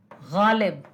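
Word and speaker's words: ग़ालिब: अब जैसे देखो, गा गाड़ी, सिंपल गाड़ी, लेकिन कवि गालिब, उसमें नुक्ता लगा है गालिब, क्योंकि ये प्रोनाउंसिएशन सीधा होगा हलक से। हलक मतलब गला। गालिब, गालिब, ठीक है, गालिब नहीं, गालिब।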